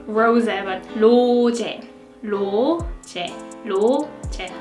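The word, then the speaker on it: 로제: Jenny alright next rosette we pronounce our name like low to low check so the loo here it's more like the L sound not the arson we don't like rosetta low tech low tech low right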